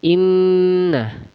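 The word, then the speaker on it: إنا: Inna itu gunna musyaddadah karena ada nun bertasydid yang sebelumnya didalii sama huruf hidup atau huruf berharakat. Nah, jadi dia dibacanya dengung dua harakat. Jadi bacanya gini inna.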